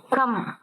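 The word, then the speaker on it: कम: இருக்கு உச்சரிக்கிறப்ப இச்ன்னு சொல்லணும் கம் கம்னா குறைவா இருக்கு குறைஞ்சிருக்கு அப்படின்னு சொன்னா கம் கா வும் மாவும் தான் எழுதி இருக்காங்க இது காணம் இது மானாதான் ஆனா இதுல ஆனா சவுண்டு சொல்லக்கூடாது கம் இப்ப ஒரு வார்த்தை உச்சரிக்கிறோம்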